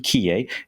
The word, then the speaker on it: Quillé: Nicolas, if those of you who don't want to go down the French pronunciation, Quillé. Nicolas, he's also a fellow master of wine, but he is a master of many things.